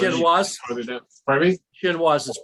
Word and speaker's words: chinois: chinoise is pronounced.